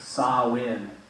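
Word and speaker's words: Samhain: Christian Church changed and you see how that was spelled right s-a-m-h-a-i-n but they're saying that you pronounce it saw in so when we didn't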